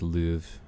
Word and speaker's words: Louvre: don't know when because it also said that it was English pronunciation was Louvre which almost sounds like